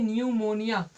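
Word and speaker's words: pneumonia: पर हम देखते हैं इसमें भी पीस साइलेंट है तो इसको क्या बोलेंगे निमोनिया निमोनिया मेंस क्या होता है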